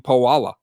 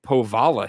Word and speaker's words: Powala: You don't pronounce his name Powala. No, not Powala. No, you do the W as a V, so it's Ryan Powala Higgins.